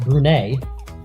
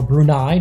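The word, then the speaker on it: Brunei: Kazakhstan and now Afghanistan against brune or brunai depending on how you want to pronounce it but here on Marvel pubo we're going to pronounce it brune they're in the yellow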